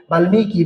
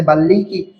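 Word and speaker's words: বাল্মীকি: তো বাল্মিকির উচ্চারণটা দেখেন ম এর সাথে বাল্লিকি বাল্লিকি হওয়ার কথা ছিল কিন্তু কি হয়ে গেছে? বাল্মিকী হয়ে গেছে।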